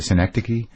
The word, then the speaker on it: Synecdoche: Synecdoche?